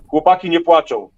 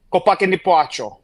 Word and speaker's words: Chłopaki nie płaczą: Chłopaki nie płaczą. Chłopaki nie płaczą. Yes. Chłopaki nie płaczą.